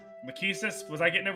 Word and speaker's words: Lachesis: Lachesis? Was I getting it right this time? I don't care. Like, you can... As long as you're not saying Rachesis, like the fucking translation patch.